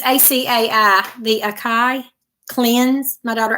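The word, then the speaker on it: açaí: It's ACAI, the Acai.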